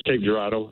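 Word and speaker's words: Cape Girardeau: it right Ken uh it's cape gerado and it's Missouri yeah Missouri Cape gerado how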